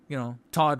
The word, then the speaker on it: Todd: Todd rhymes with God.